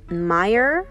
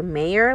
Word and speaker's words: Meyer: that we tried were the Meer or mayor lemons I think it's pronounced Meer um that was interesting